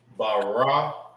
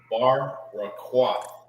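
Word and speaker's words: ברקת: It's Baraquath. Baraquath. Barwa. Baraquath. All right, that's Baraqath. Baraquath. Carbuncle. All right, now let's write it in the Hebrew.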